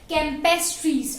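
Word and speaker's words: campestris: कैम्पेस्ट्रिस ऐसे pronounce किया जाता है. कैम्पेस्ट्रीज. एम I clear?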